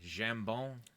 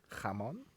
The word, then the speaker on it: jambon: Jambon. That's French for ham. But Jamon? no, jambon. Jambon. My You're favorite word. pronouncing it like Spanish. Yeah, you're Don't right. do that. Jambon. Yeah, you're thinking Spanish. Jamon.